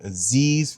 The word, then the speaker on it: Aziz: It's your boy Aziz, rhymes with disease.